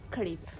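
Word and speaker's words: kripë: for salt how do you say you say creep say it one more time how do you spell it k a k r spill it in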